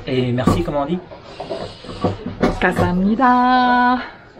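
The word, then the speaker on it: 감사합니다: Kasamnida. Hein? Kasamnida. En fait, ça s'écrit avec un G et ça se prononce K.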